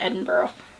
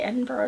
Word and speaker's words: Edinburgh: I have to think about Edinburgh. I say Edinburgh, it's Edinburgh. I don't know.